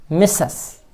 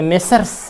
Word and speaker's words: Messrs: ये भी Britain English में साइलेंट करते हैं, अमेरिकन इंग्लिश में आर का उच्चारण करते हैं। मिसेस या मेसज, आर साइलेंट हो गया। अमेरिकन इंग्लिश में मेसर्स ही कहेंगे।